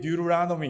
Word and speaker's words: Deuteronomy: 영어로 미국 사람들이 Deuteronomy 이렇게 읽어요.